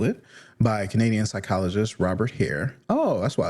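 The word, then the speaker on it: Hare: By Canadian psychologist Robert Hair. Oh, that's why it's named after him. Okay, cuz hair is spelled not like hair.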